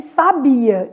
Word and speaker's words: sabia: Aí, eu estou com sábia e sabia. Então, vamos fazer aqui, ó, sabia. Sabia separa, ó, hiato. São sílabas separadas.